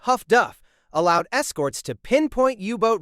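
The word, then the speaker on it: HF/DF: Highfrequency direction finding HFDF pronounced huff duff allowed escorts to pinpoint yubot radio transmissions instantly.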